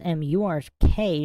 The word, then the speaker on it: merc: Merked comes from merc mc pronounced mur k short for mercenary.